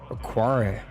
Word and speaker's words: Okwara: Okwara.